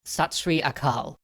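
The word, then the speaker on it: Sat Sri Akal: over as the fires burned bole so nihal satsri akal or shout aloud in ecstasy true is the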